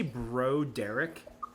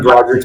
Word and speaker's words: Broderick: Is it No, it's Matthew Broderick's brain? No, he is pronounced Broderick. Because that's so much better. It was just a different version of Bo Derek.